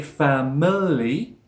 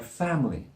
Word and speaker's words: family: It's dropped in the middle where the I sound is. We don't say family, family, family. That swoosh sound is dropped and it sounds like family, family.